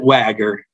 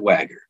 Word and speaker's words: Wha-Ger: so we pronounce it wagger it might not look like it's spelled that way but we do pronounce it wagger how aopo for all